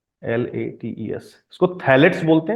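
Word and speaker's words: phthalates: spelling थोड़ा गलत लिख दिया है मैंने, फै इसको फैलेट नहीं बल्कि थैलेट बोलते हैं, इसमें तो बताऊंगा, ये भी टॉक्सिक होता है कुछ, बल्कि इसको ऐसे लिखते हैं, पीएच साइलेंट होता है इसमें, टेरी, पीएच, टी एच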